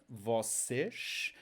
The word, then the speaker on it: vocês: You, plural, vocês. Notice the sh sound at the end because we have the S at the end, so sh.